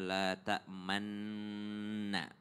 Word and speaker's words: لا تأمنا: Ini salah satu ayat yang unik dalam ilmu tajwid karena kita membacanya la ta'manna. Bibirnya agak dimajuin tanpa mengubah suara daripada ayat tersebut.